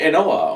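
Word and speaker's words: An Oa: So first up, we have the Ardbeg Enoa, or N-O, depending on how you want to pronounce that. I've heard it both ways.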